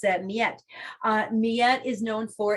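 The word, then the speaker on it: Mljet: it's another strange spelling it's j e t and it's pronounced like a y so it's um yet uh miyette is known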